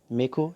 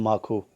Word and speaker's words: mako: finally catch a veil amaku Mako and Marco both are right pronunciations a Marlin or a